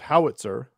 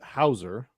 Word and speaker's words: Hauser: which is an odd I thought it was Howitzer at first but it's Hauser um but still spelled like uh a Germanic name but um I think